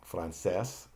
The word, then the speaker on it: francés: Francés, the accent is on the last syllable.